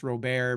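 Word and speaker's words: Robert: um kind of like my last name I pronounced Rober because I'm French Canadian but like in hockey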